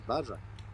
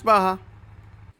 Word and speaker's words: Baja: Okay, I thought this was Badger. All right. Yeah, it's Baja.